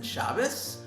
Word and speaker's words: Shabbos: at the word shabbos an ashkenazi would pronounce it with the s as in shabbos whereas asvari would pronounce